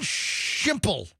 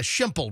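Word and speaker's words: Schimple: Justin Shimple. Shimple. Like pimple. Yeah. Shimple. Rhymes with pimple.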